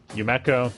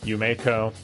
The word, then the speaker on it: Yumeko: female yumiko java me yumeko yumeko it's pronounced both ways across both dubs too from what i can tell so yeah tomato tomato on this one either way she's